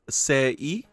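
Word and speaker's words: 世: Alright, first one that we have seen before, it's going to be World, pronounced Sei.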